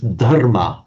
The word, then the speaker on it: dharma: entirely different story that in Sanskrit it is dharma with a d h a r m a and the reason it's